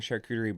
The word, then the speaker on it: charcuterie: So we started making charcuterie boards. That is how you pronounce it for all those individuals.